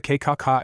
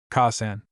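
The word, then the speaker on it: Kaa-san: What's a K-ka-ka? Asia frowned and her nose wrinkled cutely in confusion as she tried to pronounce the word. Ka-san. Naruto corrected her.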